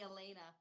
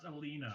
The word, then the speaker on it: Elena: I just groaned at the Elena. That's all. We're good. It's pronounced Alina.